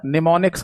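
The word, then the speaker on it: mnemonics: है ना इसको बेटा निमोनिक्स कहा जाता है, जिसकी स्पेलिंग एम से शुरू होती है।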